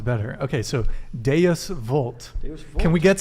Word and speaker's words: Deus vult: So you speaking don't of Latin, Deus Vult? Deus vult. Deus- Don't pronounce all the moderns want to do it the German way, but you got to do it like a good Italian.